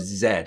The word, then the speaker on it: Z: the lost city of zed i'm pretty sure i'm pronouncing that right i know it's just a z but in the film they say zed and i've heard people